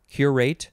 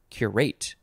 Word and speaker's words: curate: form of cure rate emphasis on the first or second syllables curate or curate transitive verb from 1909